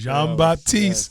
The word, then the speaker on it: Jean-Baptiste: Jean-Baptiste.